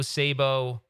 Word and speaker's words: Szabo: If you Google Joe Sabo, now everyone gets his name wrong.